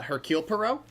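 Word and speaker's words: Hercule Poirot: Uh Hercule Perau. Yes. Yeah, that makes sense. No, the H is silent. That's French.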